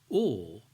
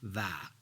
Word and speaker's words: و: Or means and. As I said in lesson 1, in most cases the right pronunciation is or, not va.